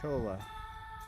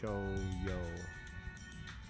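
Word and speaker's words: cholla: Looks like a chola. cactus cho toyo. We're learning the proper pronunciation for it. Um I want to say the elves because well we pronounce the owl's but it's cho yo.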